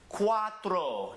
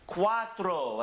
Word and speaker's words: cuatro: this ooh coo coo cuatro do it cuatro again cuatro and you know we're going to buy that word right in between here that first syllable is qua and the second syllable is throw cuatro Cinco here we have